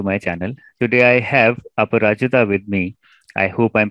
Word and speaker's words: Aparajita: Today I have Aparajita with me. I hope I'm pronouncing it correctly.